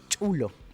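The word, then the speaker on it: chullo: Y este es el famoso chulo, correctamente pronunciado. Es chulo. Chulo, en quechua.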